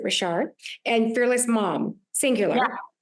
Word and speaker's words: Richard: It's like Richard, but you pronounce it Richard, and Fearless Mom, singular.